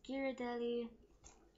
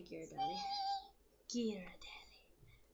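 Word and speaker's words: Ghirardelli: box of brownies this giradelli triple fudge brownie mix um and yes that's how I say Gad gelli I don't know why I say it like that it's weird okay Italian I like saying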